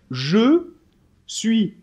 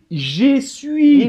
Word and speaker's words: je suis: avec le verbe être je dois dire je suis et surtout pas dire j'ai suivi parce que là on dirait que tu es suit la table c'est pas le verbe